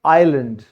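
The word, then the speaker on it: island: एस आ जाए तो आप इसको साइलेंट कर दो। जैसे आई के बाद एस आया है, द्वीप उसकी इंग्लिश होती है आइलैंड, ठीक है।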